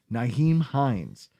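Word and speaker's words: Nyheim Hines: So the injury to Harris helped Naheem Hines.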